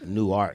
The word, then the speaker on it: Newark: It's New Newark. Peace to my Delaware people out there, man. We got a connection with the whole Newark Delawares and all that.